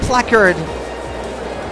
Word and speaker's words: placard: My placard!